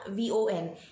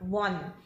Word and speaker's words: von: So, but all the sentences all the words that, begin with a V are usually pronounced with a F. So, von, yeah, V-O-N. It's not von, it's von.